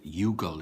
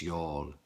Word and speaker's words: Youghal: It's Youghal is how some people pronounce it when they come from North America and they don't know, but it's Youghal.